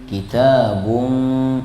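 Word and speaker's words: كِتَابٌ: arabian liquumin y'lamun i kitabun ikhfa ya bukan idgham kalau idgham bibirnya ketutup kitabun itu kalau ketemu mim karena ini bertemu U dengan huruf fa maka dibaca ikhfa. Bibirnya tidak tertutup. Hampir tertutup.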